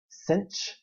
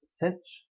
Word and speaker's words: sinh: h following it and i pronounce that cinch like i'm going to pinch you it's cinch so hyperbolic sine is